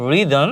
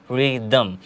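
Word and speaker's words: rhythm: যদি লক্ষ্য করি আমরা রিদম রিদম যার অর্থ হচ্ছে ছন্দ বা তাল এখানেও কিন্তু এইচ সাইলেন্ট লেটার হিসেবে বসে আছে এখানে কিন্তু আমরা এইচ এর কোন উচ্চারণ করছি না এখানে ডিরেক্ট আমরা বলছি রিদম পরবর্তীটা যদি আমরা লক্ষ্য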